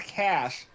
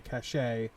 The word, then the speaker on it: cache: heard it called a cachet but i've heard it hauled cash in other scenarios okay okay